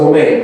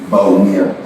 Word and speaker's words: Bawumia: Did I say Bomain? No, let me teach you how to say it right. You gotta say it right, bro. It's so important that you gotta be able to say it right. Bawumia. Mahamudu Bawumia. So he's a doctor. He's an Alhaji. And then his full name is Mahamudu Bawumia. Bawumia.